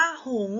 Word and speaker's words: หงส์: คำ นี้ อ่าน ว่า หงส์ นะ คะ เพราะ ว่า ตัว สอ เสือ การันต์ ไม่ ออก เสียง ไม่ ออก เสียง เพราะ